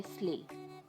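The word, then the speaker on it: sleigh: में बोला जाता है स्ले। स्ले में GH साइलेंट होता है, आप इसे प्रोनाउंस नहीं करेंगे, इसका करेक्ट प्रोनाउंसिएशन है स्ले।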